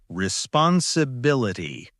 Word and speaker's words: responsibility: Responsibility. Good. This word has five parts, five syllables. The stress is on B.